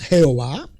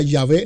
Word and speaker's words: Yahvé: Yo v, o sea, Y HVH, que no es un nombre, no es Jehová, ni si se fuera a pronunciar fuera Yahvé, no Yahweé. Eso, eso es un anglicismo mal interpretado por ellos también, aunque